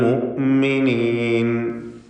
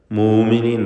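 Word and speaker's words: المؤمنين: മിനൽ മുഅ്മിനീൻ, അൽ മുഅ്മിനീൻ ഹംസ കടുപ്പിച്ച് ഉച്ചരിക്കുക. മൂമിനീൻ നൈപ്പോത്ത്. മിനൽ മുഅ്മിനീൻ.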